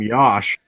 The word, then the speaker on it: Yosh: weighing 314 pounds okay his first name rhymes with Josh apparently according to the